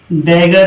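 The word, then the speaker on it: dagger: Double जी आएगा तो इसका हमेशा उच्चारण गा ही होगा। किसी भी शब्द में अगर डबल जी आता है तो उसका उच्चारण हमेशा गा करोगे।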